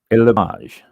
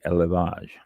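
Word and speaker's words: élevage: Let me see how to pronounce this one. Elage. E L E V A G E. Elage.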